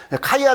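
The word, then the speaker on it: χ: 어려워하지 마시고 x자 아시죠 x자 이게 헬라어로 카이에요 카이 그래서 옛날에 우리 성탄절 때 왜 x 막스 이런 거 보셨어요 크리스마스를 그죠 이렇게 x 그래서 x 마스라고 읽으면 안 돼요 그게 아니고 이제 그래서이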